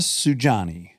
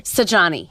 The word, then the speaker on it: Saujani: So please enjoy Reshma Saujani. He's an armchair expert. He's an armchair expert. He's an armchair expert. We're so afraid to pronounce your last name. Saujani. Saujani.